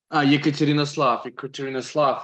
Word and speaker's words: Yekaterinoslav: Okay, my 4 times great grandfather immigrated with family from Ekaterinoslav, I think is how it's pronounced. Sorry, I can get the name of a place from. Oh, Ekaterinoslav. Yekaterinoslav, it's Ukraine.